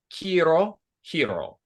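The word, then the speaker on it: 黄色: the movie was uh K hero so the word in English is yellow and it rhymes with hero in Japanese k hero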